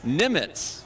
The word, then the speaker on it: Nemec: Nemec uh-huh but it's pronounced Nimitz just like Admiral Nimitz from World War two Fame and right here in